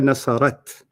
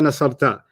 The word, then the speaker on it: نصرت: هي You got the ta right. You're pronouncing it wrong. Here nasarat. Oh, هي نصرت. Okay, let's start that again. Okay. And let's see if you don't say here nasarta.